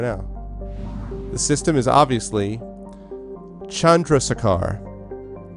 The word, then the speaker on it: Chandrasekhar: I'm going to pronounce it right now. The system is obviously Chandrasekhar. Chandrasekhar.